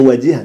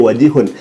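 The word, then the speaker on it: وَجِيهًا: Dalam Al-Qur'annya kan wajihan, tetapi orang ini membacanya wajihun.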